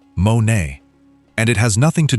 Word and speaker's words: μονή: But the Greek word behind mansions is monē, pronounced monē, and it has nothing to do with luxury real estate.